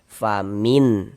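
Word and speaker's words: فَمِنْ: Sehingganya cara membacanya itu dibaca jelas dan tidak berdengung. Yang dibaca jelas itu apanya? Ee bunyi nun sukunnya. Kita baca jelas. Jangan disamar-samarkan. Jangan baca jelas. Famin. Famin. Nah, jelas seperti itu.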